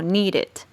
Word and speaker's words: needed: la escritura pues entonces Esta última partecita suena como ID Así que el pasado se pronunciaría como needed Recuerden que esta regla